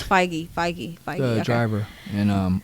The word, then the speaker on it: Feige: No, it's Feige.